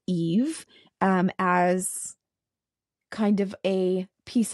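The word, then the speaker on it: Aoife: And so the king, who is named Bold, I believe, King Bold, offered Lir his daughter, pronounced Eve, as kind of a peace offering for their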